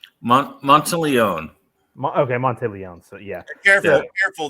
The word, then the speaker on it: Monteleone: Monteleone? Monteleone. Okay, Monteleone. So yeah, careful. That can kill someone if you mispronounce their name.